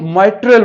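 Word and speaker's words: mitral: कहते हैं इसका नाम जो सही वाला है वो माइट्रल वाल। क्या इसकी प्रोनाउंसिएशन क्या है, माइट्रल वाल।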